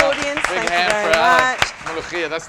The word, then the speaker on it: molokhiya: We are making, ready, 1, 2, 3, molokhiya. Firstly, help me pronounce this. You did a fantastic job. Come on. Ready? It's molokhiya.